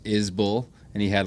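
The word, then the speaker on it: Isbell: while ago it's like it's pronounced is bull and he had like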